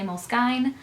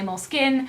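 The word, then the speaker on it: Moleskine: WR some people say Molin some people say m skine some people say mol skin I say Molin I've been a big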